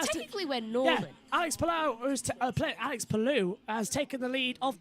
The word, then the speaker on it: Palou: Thanks to the Lao say it's Palou. How you pronounce it, not Palau.